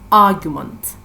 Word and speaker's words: argument: And third noun is argument, argument. So the stressed syllable is the first syllable, argument.